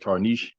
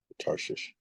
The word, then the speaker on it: Tarshish: You said Tarnish? Tarshish is spelled Tarshsh. ISH. Okay. Tarshish.